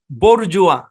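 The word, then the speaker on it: bourgeois: বলতে পারতাম যাই হোক এখানে এস টা সাইলেন্ট হ্যাঁ এই শব্দের উচ্চারণ হচ্ছে বরজুয়া এবং এই শব্দগুলো ভাই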